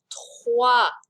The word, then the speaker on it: trois: Number 3, trois. Good opportunity to practice your French R.